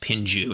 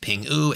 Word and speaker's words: PINGU: back to today's project Pingu so it's not pronounced pingju it's pronounced Pingu it's a promotional project they are on saana